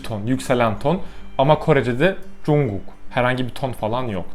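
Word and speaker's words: 중국: Ama Korece'de Chungguk, herhangi bir ton falan yok.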